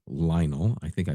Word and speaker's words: Lionel: Not, Lionel.